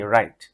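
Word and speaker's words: write: ডব্লিউ এর পর আর থাকলে সাধারণত ডবলিউ উচ্চারণ হয় না। যেমন ডবলিউ আর আই টি রাইট লেখা।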